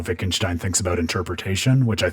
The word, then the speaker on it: Wittgenstein: those trickeries of the German language where the W actually sounds like a V so yeah a lot